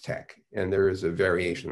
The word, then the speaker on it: TeX: and invented something called tech which is spelled t-e-x but pronounced tech and there is a